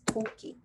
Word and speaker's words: 도끼: Not 토끼, it's 도끼. 도끼 is axe.